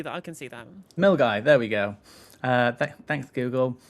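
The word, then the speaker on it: Milngavie: Milgai. Okay, Milgai. I can see that. I can see that. Milgai.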